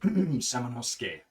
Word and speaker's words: Samanosuke: Yes, like Samanosuke is how we would pronounce it, but it's pronounced Samanosuke.